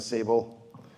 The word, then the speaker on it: Tsable: I did on the Sable River you don't pronounce the T on on the Sable in 2023 and I